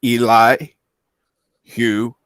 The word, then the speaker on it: Elihu: The first person I actually heard say his name right was Professor Brady Specs. And I even saw it on that video of what's his name? Yitzhak made, where his name is Eli Hugh.